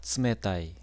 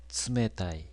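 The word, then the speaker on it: 冷たい: 그래서 윗니의 뒷부분 입천장이 시작되는 부분에 혀끝을 대고 츠라고 하는 것이 일본어의 츠 발음입니다. 일본어의 츠 발음이 들어가는 대표적인 단어는 어떤 것이 있을까요? 예를 들면 차갑다, 츠메타이, 츠메타이.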